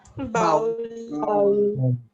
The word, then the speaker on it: bowl: So O sound is here. O. And you have to pronounce it bowl. Because here OU sound is there, so we take bow. No, it is not how, it will be bowl.